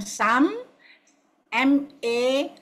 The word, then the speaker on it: Samma: So you pronounce it as SAM, Sam, MA, Ma. The A is long.